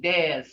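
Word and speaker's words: dac: So Des, see how that's pronounced? Des, D-A-C, D-A-C, Des.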